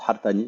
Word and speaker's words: Hartani: recherche, qui s'appelle Riyad Artani. Donc, en arabe, on se prononce Hartani, mais il y a un H.